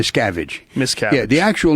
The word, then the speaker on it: Miscavige: wrote it's called ruthless with the correct pronunciation it's cabbage miss cabbage no miscavige miscap yeah the actual